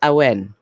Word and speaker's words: Awen: My name, technically, it's pronounced Awen. It's a Welsh name, but because I'm American and it's just easier to say, I just say Awen. So we go with Awen, but Awen works too.